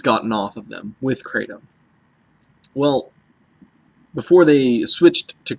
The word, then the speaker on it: kratom: you say the word and he said it's pronounced kratom by Kurt um so in Thai kratom means